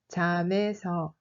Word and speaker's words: 잠에서: 잠에서 a une liaison, alors on le prononce comme 잠에서.